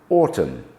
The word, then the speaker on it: autumn: Some words ending in N do not sound it, as in autumn, column, hymn.